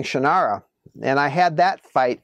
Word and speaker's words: Shannara: And I said, "Well, they say Shannara."